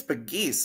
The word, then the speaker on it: Pegues: Is it Pegs? I think it's Pegues, if I'm not mistaken. Oh, there we go. Pegues. That's what it is.